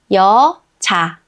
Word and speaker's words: 여자: 여, 즈, 자. 여자. 여자. 여자.